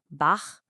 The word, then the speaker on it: Bach: So if ch comes after a back vowel like a o or u, it's a back sound made deep in your throat. Think of the sound in the Scottish word lo or like you're gently clearing your throat. Just listen. Bach b. Try to feel where that sound is coming from way in the back.